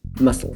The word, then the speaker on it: muscle: So muscle is one of a group of words in English where there's a silent letter in the base word, but then that letter gets pronounced in an adjective form.